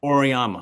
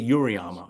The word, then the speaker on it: Auriemma: Oriyama. I always Yeah. always want to say Uriyama. It's Oriyama, right?